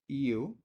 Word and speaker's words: you: tú y ese you tiene algo muy importante sobre la pronunciación se pronuncia I uu no Y como y de y caso I u solamente u y significa tú el siguiente es que